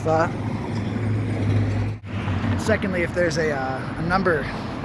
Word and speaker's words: pho: know first of all it's not pronounced foe it's pronounced fa secondly if there's a